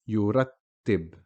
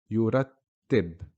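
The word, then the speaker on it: يُرَتِّب: Here our letter of focus is the ta, has a shadda with a kasra, yurattib. You hear the ta being pronounced twice, and if we break it down, it looks like this. Yurat, the first ta has a sukoon, yurat. The second ta has a kasra, yurattib, to tidy.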